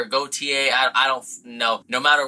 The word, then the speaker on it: Gaultier: no matter what, but there is some kind of contention on whether or not you say the L because there's an interview with him on the internet where he pronounces the L in his own name, but I also know that most French speakers don't pronounce the L, so it's like Gaultier